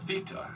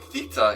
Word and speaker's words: Θ: that strange symbol um so the strange symbol is I guess uh pronounced Theta and this is not